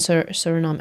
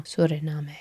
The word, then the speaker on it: Suriname: The water element for Guana and Surinami. I'm probably pronouncing that wrong. Suriname.